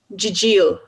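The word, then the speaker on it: gigil: And how do you pronounce the one that is the irresistible desire to squeeze something cute? Jijil.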